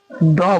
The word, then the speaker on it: the: अच्छा याद रखिएगा द का इस्तेमाल अगर किसी वल के पहले इस्तेमाल करते हैं तो उसको हम लोग डी उच्चारण करेंगे। समझ रहे हैं ना? डी कहेंगे। और अगर कंसोनेंट हो तो क्या खुशबू बताइए? कंसोनेंट के पहले क्या होगा? द बोलेंगे।